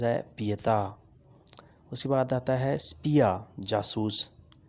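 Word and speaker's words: pietà: اسے غلط تلفظ سے بولتے ہیں، یہ صحیح تلفظ ہے پیتا۔ اس کے بعد آتا ہے سپیا جاسوس، سپیا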